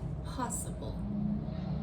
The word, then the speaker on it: possible: So, let me take the word possible. Possible. So, you can hear the stress is on the first syllable.